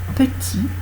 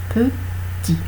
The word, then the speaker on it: petit: Alors, la règle c'est que avant une consonne, le E n'est pas prononcé.